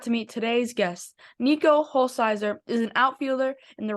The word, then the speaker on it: Hulsizer: But before we do this, is it Holsizer or Holsheiser? How do you say your name? Yeah, Hulsizer, just like it's spelled, like Hul and then Sizer.